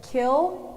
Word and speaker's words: kiln: the pronunciation correct okay your word is kill or kill it has two pronunciations can that be like in a sentence yes the glaze joseph painted on his bowl changed color once it was fired in the kiln wait so it's killed or kill okay um it has two pronunciations kiln oh okay or kill